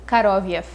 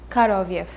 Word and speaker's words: Koroviev: But the first name, again, we will say Fagot, Fagot, and the second name will be Koroviev, Koroviev.